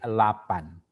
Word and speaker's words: lapan: Lapan, that Indonesian, you pronounce as a delapan. So remember, if you want to speak with the Malaysian, so you say lapan.